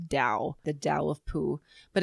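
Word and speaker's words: Tao: I saw this it it's like t a o is how it's spelled but it's pronounced Dao the Dao of Pooh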